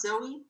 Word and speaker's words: Xoe: And I know my name is spelled XOE, but in reality it's pronounced Zoe.